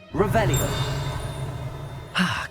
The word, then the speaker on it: Revelio: Rebellious. You're saying it wrong. Ugh, Revelio.